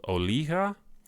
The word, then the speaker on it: Olija: And the first one is a game that has recently released, and it's called Olija. That's how they say it in the game.